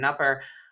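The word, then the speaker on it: Kneupper: and she sued Kevin ner I don't know if I'm saying his last name right I apologize not but I believe there's a silent k so Kevin nuer uh he's an attorney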